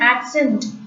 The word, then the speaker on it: accent: En is the nasal sound. So, we are pronouncing it as on. Accent. Ts are silent.